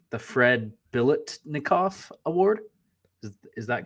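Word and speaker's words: Biletnikoff: win uh the Fred I'm gonna try to pronounce it correctly the Fred Billet nikoff award is that correct yep yep yep sure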